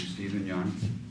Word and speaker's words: Stephen Young: recognition and appreciation to Stephen Young. Am I pronouncing that okay? Absolutely, yes.